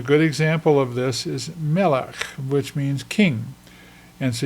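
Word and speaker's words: מלך: It's pronounced melech, and you can see the segols there. So me, lech, melech, and it's not pronounced. It's just to show you that it appears at the end of a word, and it's included there. This is a silent Shewa. It is not pronounced. We just pronounce the kaf. Melech. We do not pronounce the Shewa.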